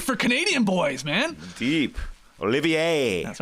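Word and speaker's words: Olivier-Maxence Prosper: Olivier. That's right. Maxence. Prosper. You got to say it like that. Yep. I can't say it like that. I don't have the natural French tongue.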